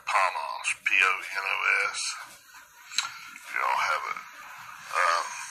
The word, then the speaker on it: ponos: Now, the derivative in the etymology, this is from a derivative of 4192, which is, looks like Ponos, P-O-N-O-S. If y'all have it, pronounce that for you.